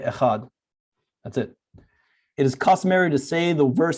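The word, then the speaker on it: אחד: sounds longer than this you should be careful not to distort the pronunciation of the word echad by over emphasizing the letters for some people actually distort the word some say echad and others you'll hear people do that it is better not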